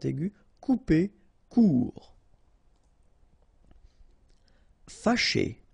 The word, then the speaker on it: fâché: Fâché, remember, C and H together, sh, and then et, ché, fâché.